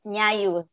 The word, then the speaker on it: Nyayu: Is it Nayu, our first speaker? Yes, Nyayu. Yeah, Nayu, good.